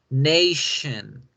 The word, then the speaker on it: nation: La palabra nación se escribe con tion y ese tion se debe pronunciar shun. Nation, nation, nation.